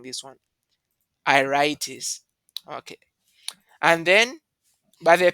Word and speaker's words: iritis: How are you pronouncing this one? Iritis.